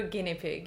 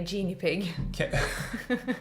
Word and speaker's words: guinea pig: That, I'll be your guinea pig. Okay, yeah. Or as I would say, genie pig. What? That's how I used to pronounce it before.